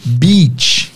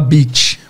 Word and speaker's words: beach: Duas vogais juntas têm um I longo.